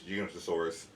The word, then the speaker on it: Giganotosaurus: So he referred to it as Giganotosaurus.